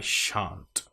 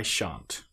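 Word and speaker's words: shan't: and chant is our long r sound. And make sure that we get that nice shh sound at the beginning.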